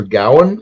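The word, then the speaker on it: Gawain: Green Knight is actually sir Gowan and the Green Knight but everybody says G because that's how it's Tech like Modern English pronounces it I read the um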